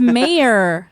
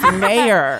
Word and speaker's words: Mayer: It's my last name is Mayer. It's Mayer. Oh, like John Mayer. Just like John Mayer.